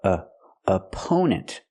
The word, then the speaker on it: opponent: Uh u opponent. The stress on the second syllable. We use a long o sound like no and go.